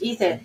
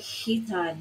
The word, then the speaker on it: Ethan: It's like Hitan is how it's sounding because of his Italian accent. Americans will pronounce this as Ethan.